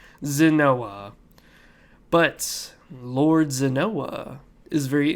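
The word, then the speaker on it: Xinoa: and it is lord zinoa now i don't know if that's how you pronounce it it's a very wicked name it's like x i n o a and it's kinda of weird zanoa but lord zanoa is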